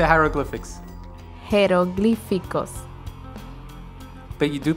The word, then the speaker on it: jeroglíficos: Jeroglíficos. I thought the H goes silent. No, because it's written J. Oh, in Spanish it's written with a J. It's written J-E-R-O. Ah, that's G.